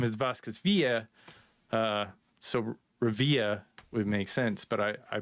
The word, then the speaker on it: Revilla: So it's Revilla. Is that wrong or right? That's because I'm from Pittsburgh, so depending on where you are in the country, the pronunciation changes from anywhere from like